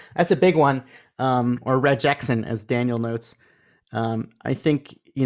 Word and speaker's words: Regexp: Well, the P is silent. It's still pronounced regex.